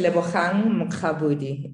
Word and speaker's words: Lebogang Mokgabudi: My name is Lebogang Mokgabudi. That's how you pronounce it.